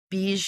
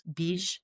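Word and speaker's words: bija: came there are actually bee mantras they call them B it's spelled B I J A but it's bee mantras and these are sacred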